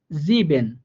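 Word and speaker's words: sieben: যেমন জিবেন, জিবেন, দেখছেন এই যে এস এর পরে আমরা আই ই পাইছি, তাহলে ইটা যেহেতু একসাথে আছে, তার মানে এটা একটা যুক্ত বর্ণ, এটার উচ্চারণটা হবে ই এর মতো করে। হ্যাঁ, তো এই জন্য এটার উচ্চারণ হয়েছে জিবেন।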